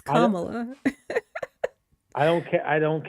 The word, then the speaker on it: Kamala: it how I'm let pronounce it how she pronounces her her own name it's Kamala I don't care I don't care how she